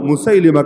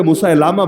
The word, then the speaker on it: মুসাইলিমা: ছিল যার নাম হল মুসাইলিমা কাদ্দাব অনেকে মুসাইলামা বলে শুদ্ধ উচ্চারণ মুসাইলিমা মুসাইলিমা কাদাব মুসাইলিমা কাদাবী